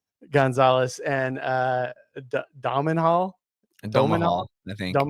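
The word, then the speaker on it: Domhnall: Gonzalez, and Domenhall, Domenhall, Domahal, I think. Yeah, that's Domenhall, how you pronounce it.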